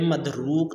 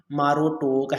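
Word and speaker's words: Marduk: سے بڑا دیوتا تھا۔ جدید دور میں مدروک ایک دیوتا کے ساتھ سب سے بڑا زیادہ جڑا ہوا ہے نام ہے، لیکن اس کا تلفظ دراصل بابلی زبان میں ماروٹوک ہے۔ اہل علم کا خیال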